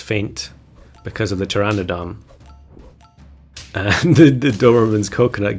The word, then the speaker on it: Pteranodon: it wrong I think I'm pretty sure the p is silent so it's Pteranodon um but I've heard